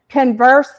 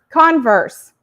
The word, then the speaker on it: converse: of how many words which syllable you stress changes the meaning of it right like um converse converse and the teacher says